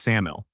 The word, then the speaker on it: SAML: Today we're unpacking SAML Security Assertion Markup Language, pronounced SAML.